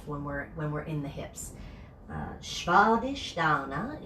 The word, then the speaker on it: Svadhisthana: Svadhisthana is how you say the name of this. I hear it get butchered all the time, and I don't mean to sound preachy, but work on your Sanskrit. It's important. Shva is the first part. Sh, sh, sh, like sheep is the sound of that S.